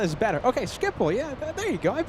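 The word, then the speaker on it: Schiphol: Okay, Dutch plane seeker says you said uh but Skipple is better. Okay, Skipple. Yeah, there you go. I've been saying Skipple, right?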